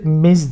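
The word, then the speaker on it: Ms.: için it yazıyoruz 7 şurası miz diye okunuyor bu evliliği karıştırmak istemiyorsan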